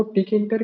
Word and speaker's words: Tkinter: अब ये टी किंटर जो है इसके ऊपर हमारा प्राइमरी फोकस रहेगा। बहुत सारे लोग उसे किंटर भी कहते हैं या टी साइलेंट करके, बट नो मैटर्स।